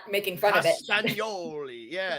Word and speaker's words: Castagnoli: I was trying to pronounce it properly, not making fun of it. Castagnoli.